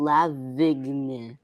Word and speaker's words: Lavigne: Anne Boleyn is Lily Allen and Avril Lavigne. I don't know. how to pronounce Avril that.